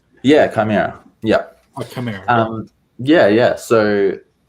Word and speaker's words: Chimera: Am I pronouncing that right? Yeah, Chimera.